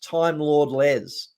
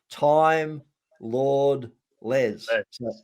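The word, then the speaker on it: timelordles: out and it's at time lord les and it's at time lord les it's not at time lordles but that's exactly the way you'd spell it time lord less there it is at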